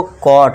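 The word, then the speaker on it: caught: कॉट। अब जो इसमें जी एच है दोस्तों ये साइलेंट रहेगा। ये ध्यान देना है। ठीक है दोस्तों? तो बस सी ए यू टी का साउंड आपको देना है।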